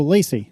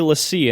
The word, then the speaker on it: LaCie: brand whose name no one knows how to pronounce. LACIE. It's been around for ages. Oh, Lacey. I remember getting hard drives from them for my classic Mac. I always said Lacey. I always say Lassie in my head, but I don't know.